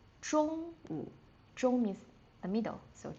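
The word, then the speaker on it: 中午: shàngwǔ shídiǎn And, lunch time or in the middle of the day, we would say zhōngwǔ.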